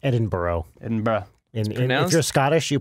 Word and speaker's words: Edinburgh: zebra is Ed producing Edinburgh Zed said that's pronounced Edinboro in bra announcer Scottish you've been outed Edinboro it's Edinboro Melbourne so London zebra Manchester say Brisbane say